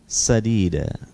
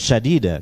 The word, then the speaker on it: sadida: Ya ayyuhalladzina amanu taqullaha wa qulu qawlan sadida. Hati-hati membacanya, bukan syadida, keliru. Pakai sin tipis.